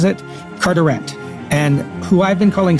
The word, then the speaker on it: Carteret: I have it on good authority that Lord Carteret, as I've been calling him, should have been called Lord Carteret. So pronounced in English, not in French.